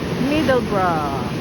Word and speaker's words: Middlesbrough: pinaka spelling niya pero they pronounce is middle br middle br bro ganyan ang mga British middle bro yung boro niya bro okay Thanks for watching